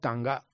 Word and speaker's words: Sangha: Sangha is pronounced as Tanga.